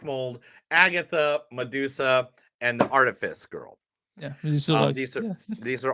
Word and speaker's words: Artifice: Harriet Webb, Kay Alexander, and then the last movie is The Artificial Girl. Artifice Girl. Artifice. What? The Artifice Really? I've Girl. been mispronouncing it this whole week then.